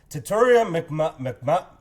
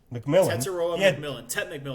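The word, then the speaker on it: Tetairoa McMillan: But like you've always been stating too about this rookie, Tataria McMillan. Tet McMillan. There you go. Thank you. I cannot pronounce that name.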